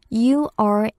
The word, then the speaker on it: Uranus: U-R-A-N-U-S. 발음은 Uranus라고 해요.